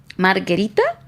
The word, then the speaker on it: margherita: Definitely help us with the pronunciation in Italian, sorry. Pizza margherita?